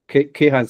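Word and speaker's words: Kayhan: Visha Ray from the Keihan Space. Did I pronounce that correctly?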